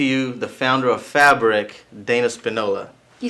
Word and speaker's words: Dana Spinola: to introduce to you the founder of fabric dana Spinola you said it right yes are you doing